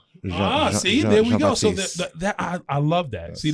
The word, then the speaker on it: Jean-Baptiste: Jean-Baptiste. Jean-Baptiste.